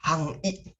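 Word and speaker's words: 範囲: Bacanya adalah Hang I. Hang I, kalau tadi Hosing.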